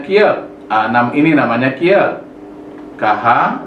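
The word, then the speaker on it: 키읔: Bacanya kiat.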